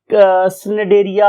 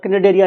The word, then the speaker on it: Cnidaria: शुरू हो रहा है बट सी is silent over here, तो हम लोग इसे स्नेडेरिया और कनेडेरिया नहीं बोलेंगे बल्कि हम इस सी को नहीं बोलेंगे और फाइलम का नाम यहां से बोलना शुरू करेंगे।